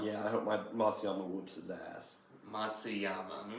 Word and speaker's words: Matsuyama: It's Yama. There's an A. That is disrespect on the family and tradition. Matsuyamu? It's not Matsuyama. Matsuyamu. It's Matsuyama. Matsuyama.